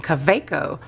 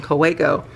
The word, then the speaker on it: Kaweco: Somebody told me that I was pronouncing Kaweco wrong, because I was saying Kaweco, because I'm going by the spelling of the word and not the pronunciation.